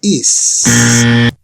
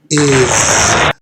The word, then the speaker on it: is: un tip de pronunciación la pronunciación de esta palabra no es is es ir debes de sentir vibrar sus cuerdas vocales al hacer este sonido entonces ahora si estamos